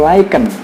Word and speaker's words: Lycan: Tulisannya itu Lycan, tapi bacanya itu Lycan.